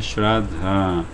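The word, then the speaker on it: श्रद्धा: Com A longo, o último A é longo, né? Então você pronuncia Shraddha.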